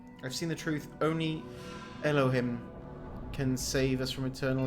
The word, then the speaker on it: Elohim: You are certain this man's name is not my hole. It's not. The greater purpose of which you are also part. It's Elohim.